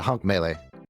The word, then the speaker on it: Hunk Melee: I'm here with Hunk Malay. Is that how you say it? Yeah, Hunk Melee. Melee, right? Like Smash Melee, of course. Correct.